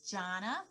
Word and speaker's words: Jonna: sure good morning warren my name is jonna john with an a john like where does that name come from jonna like well my grandfather's